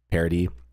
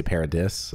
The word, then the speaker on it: Paradis: while they were on Parody or do you say Parody? That's how they say it in the show, but I've heard people say Paradis or something like that.